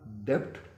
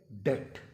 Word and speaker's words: debt: इस लफ्ज़ को अगर आप लोग डेब्ट के हवाले से या उस तरह प्रोनाउंस कर रहे हैं तो आप इसको यकीनन गलत प्रोनाउंस कर रहे हैं, क्योंकि ये तलफ़्फ़ुज़ सरीहन इसका गलत है। इसका असल जो तलफ़्फ़ुज़ है वो है डेट।